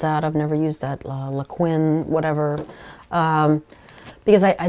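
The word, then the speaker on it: Liquin: lot of people use laquin I think that's how you pronounce it uh Li IQ Q UI in um it's a gel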